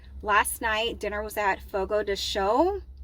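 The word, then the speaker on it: Fogo de Chão: night dinner was at Fogo the show I think that's how you pronounce it because it's a Brazilian steakhous I used to call it Fogo dechow and somebody looked at me like I was absolutely crazy um so I'm just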